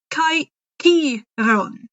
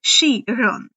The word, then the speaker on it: Chiron: C's in the early days were all K sounds. But as time passed, language changed and it changed to a more S-like sound.